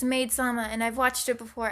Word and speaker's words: Maid-sama: the anime it's called maid-sama Mei Tama that's not how you pronounce it it's made sama and I've watched it